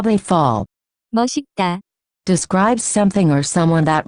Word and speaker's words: 멋있다: The pronunciation of this word is closer to. 멋있다.